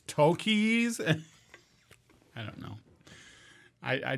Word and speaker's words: Takis: any sort of authority actually phil is wrong it's not takis it's tokies i don't know i